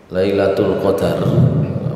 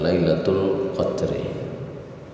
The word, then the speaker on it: Lailatul Qadar: Lailatul Qadar, pengucapannya dalam bahasa Indonesia biasanya kita Lailatul Qadar, meskipun dalam bahasa Al-Quran biasanya disebut dengan Lailatul Qadri.